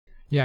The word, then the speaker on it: ye: We say that we see those signs and we think, "Oh, ye old." But it wasn't pronounced ye. Um, when old English had a letter for the th sound, and then when the